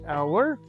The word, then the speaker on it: hour: Sometimes H is silent as the words hour, air, or honor.